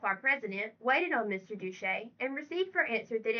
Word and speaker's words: Duché: Duché, Duché they pronounce it, deserved that character, and therefore he moved that Mr.